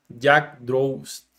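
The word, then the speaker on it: Yggdrasil: también a esta distribución que se pronuncia Jack drops fue una de las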